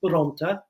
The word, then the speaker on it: Bronte: But my grandparents are from a town in Sicily called Bronte, which is the pronunciation of that.